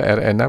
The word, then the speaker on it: RNA: interacting Erna atau Hai nih saya membacanya campuran dalam Loket Indonesia dan Inggris dana Erna saya baca Erna bukan art Ya udah mudah-mudahan saudara